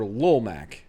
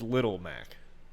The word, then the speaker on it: Little Mac: those hammer brothers also is it little mac or lolmac it's little mac that's how they always spell it that's good the way you say it is up to you i'm probably going to